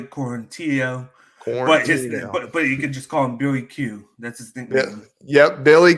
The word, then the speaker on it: Quarantillo: pronunciations on this one i've got shane bureau's versus billy quantitaro it's a shane burgos and billy quarantillo court yep billy q